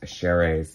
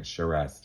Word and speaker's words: Charest: here we go and i made double sure to pronounce travis chery's name correctly um it's french and i was saying charest in the last video i did on him so forgive me travis